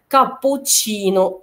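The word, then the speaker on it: cappuccino: وأين بس في الحالة التانية هنا كابوتشينو تشينو، لأن التشي التانية هتنطق تشي تشينو، أوكي؟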